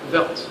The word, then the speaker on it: vert: Vert. Vert. Vert. So there, it's like air. Vert. So there, the sound is like Air.